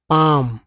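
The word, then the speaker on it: palm: तो सी एल एम काम नॉट कि काल में काम का मतलब शांत तो काम नॉट काल पाम है ना पाम भी बोलते हैं।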